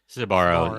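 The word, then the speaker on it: Sbarro: pizza battle dominoes versus now make sure i'm pronouncing this correctly is it sabaro sabaro yeah okay um domino's versus sabara sabaro was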